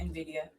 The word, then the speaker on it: Nvidia: Samsung and SK Hynix supply Apple the uh the uh How you How you pronounce the name? Is that the Nvidia? Uh Nvidia? Anyway. Yeah, Nvidia.